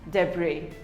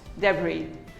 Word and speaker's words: debris: not debris or debris it is pronounced as debris the bree the s is silent debris we all have a